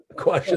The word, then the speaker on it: Quasha: Quasha is how I pronounce it, but who knows?